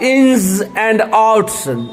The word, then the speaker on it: ins and outs: इंस देखिए, जेड जो होता है उसका उच्चारण टंग को नीचे वाले दांत के पीछे टिपकाएंगे और घर्षण के साथ हवा निकालेंगे। इंस एंड आउट्स, इंस एंड